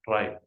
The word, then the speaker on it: trie: frees before suffix Tre let's talk about try pronounced try it's a tree representing a whole collection of